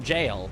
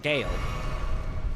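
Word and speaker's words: Gaol: for Gale though well that's not that's not Fort jail that's Fort Gale pretty sure claim Dutch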